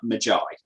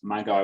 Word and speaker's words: Magi: because magi is pronounced magi correct yeah but in my world um the the the the magic users in it they call themselves my guy with a hard g to differentiate themselves from main character and